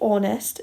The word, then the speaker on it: honest: because when we say honest it sounds like it starts with an o because the h is silent so just think about